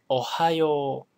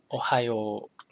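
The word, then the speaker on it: おはよう: okay so first one ohio ohio notice that the uh extends the o sound it extends extends the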